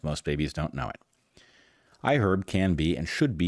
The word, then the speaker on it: iHerb: Yep, you pronounce the H in iHerb.